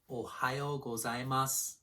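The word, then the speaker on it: おはようございます: Also notice that the final vowel sound gets devoiced, meaning that you don't say it as loudly. It's as if this word were written without the U at the end. Listen, ohayo gozaimasu.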